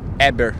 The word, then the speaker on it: Héber: No H, Héber. No H, Héber. Héber. Yeah, Héber.